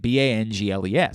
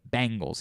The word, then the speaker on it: Bengals: Like the band. Bangles.